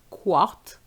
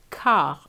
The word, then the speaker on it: quart: And quarter is not quart, but car, like the car you drive.